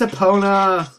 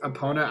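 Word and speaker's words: Epona: pona all right and a lot of people pronounce it I think it's opponent I don't even know for sure and you know oppona it does come from the Greek word for the god of horses and I believe it's pronounced apona hey who are you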